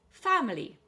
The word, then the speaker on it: family: Family. Three syllables, but stress on the fam, first syllable.